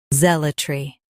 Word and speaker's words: zealotry: Today we will learn how to pronounce the word shown on the screen, zealotry. Both US and UK have the same pronunciation of this word. Stress. Z. Keep L soft, then tree clear.